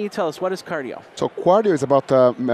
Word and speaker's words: Quardio: and you're with uh cardio spelled with a q q a r d IO cardio and uh and hi